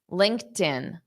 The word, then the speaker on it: LinkedIn: is I'm going to take that t sound and I'm going to pronounce it on the next l link tin so it's going to sound like tin you're going to hear a very noticeable tin Linkin LinkedIn LinkedIn okay so make sure you